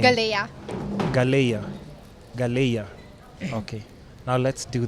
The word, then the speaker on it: Galaiya: I had a hard time, but how do you pronounce the second name? Galaiya.